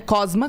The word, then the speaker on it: Cosma: Cosma, como se escreve, como se fala, Cosma.